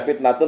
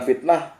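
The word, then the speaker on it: فتنة: anak-anakmu hanya sebagai cobaan saya baca fitnatun bukan fitnah walaupun di waqaf karena kalau cara baca kitab kuning seperti itu pak Agus Ayo kita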